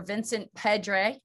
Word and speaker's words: Vincent Pedre: Vincent Pedre.